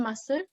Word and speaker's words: muscle: So what is there any silent letter in muscle? Ma'am, C.